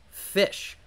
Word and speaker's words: Ghoti: a bit of a pun you see the goatee archetype is actually supposed to be pronounced fish this is an archetype composed exclusively of fish